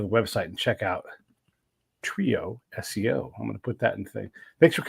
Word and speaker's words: TrioSEO: little bit about um now is it trioo SEO or trioo how do you how do you say it it's a trio SEO we focus on SEO Trio SEO all right and I'll